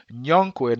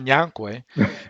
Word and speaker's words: Younquoi: It's Younquoi, not Nyankwe.